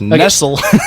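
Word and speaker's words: Nestlé: Nestle is that how you say it yes Nestle I saw this one thing where it's like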